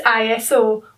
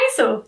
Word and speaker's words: ISO: The third thing you need to get your head around right now is ISO or ISO, depending on where you're from or how you want to pronounce it.